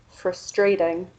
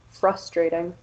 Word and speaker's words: frustrating: Um, in longer English words, the stress is usually on the first or second syllable, but you'll often hear students place stress later. So students might say frustrating instead of frustrating, or comfortable instead of comfortable.